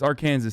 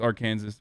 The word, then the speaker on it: Arkansas: No, it's Arkansas, dude. Shut up. Literally everyone knows that it's Arkansas.